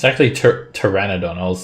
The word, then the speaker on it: Pteranodon: It's actually Pteranodon.